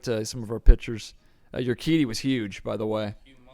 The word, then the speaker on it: Urquidy: Then, how do you pronounce this guy's name? Jose Urquidy. Urquidy.